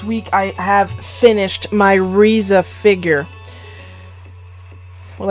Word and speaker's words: RZA: I have finished my RZA figure well I say Reza because I'm talking in English because it's supposed to be pronounced RZA I've been